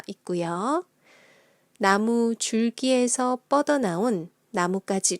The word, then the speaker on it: 나뭇가지: 안녕하세요 콩 스프 한국어 교실입니다 오늘은 나무까지 의 발음과 표기에 대해서 알아보도록 할게요 오늘 다룰 내용은